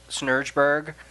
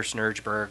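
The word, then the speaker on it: Snejbjerg: is by Peter Snurgeberg.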